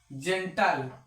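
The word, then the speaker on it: gentle: ही यह भी है अगर जी के आगे ई आई वाई आएगा तो जी को हम ज पढ़ेंगे उसी तरह ये भी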